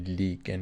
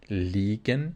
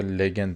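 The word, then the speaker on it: liegen: لیگن یادتون باشه این لیگن یعنی قرار داشتن زیاد باید لبخند بزنی تولید کنی ای کشیده است اینجا لیگن اینجا میشه چی لیگن پس اینو بعضی لگن تلفظ میکنن متسفانه غلطه خب میگ میگه چی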